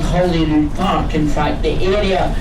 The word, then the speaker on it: Holyrood: It's not Holyrood, it is Holyrood.